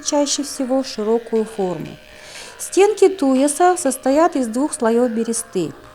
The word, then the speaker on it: туяс: это я следующая посуда туяс Как вы обратили внимание это слово произносится с ударением на первый слог туяс небольшой берестяной сосуд